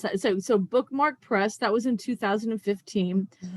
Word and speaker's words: BkMk: title is that correct you know they pronounced a bookmark okay that's so much